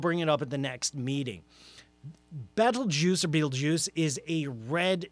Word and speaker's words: Betelgeuse: in that shoulder is named Betelgeuse yet not Betelgeuse as in the movie is in the name you can't say three times battle juice I think is the more accurate pronunciation it's an Arabic name